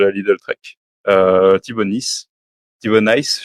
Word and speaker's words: Thibau Nys: Alors moi, je vais vous présenter un jeune coureur de la Lidl Trek, Thibaut Nice, Thibaut Nice, je crois qu'on prononce plutôt.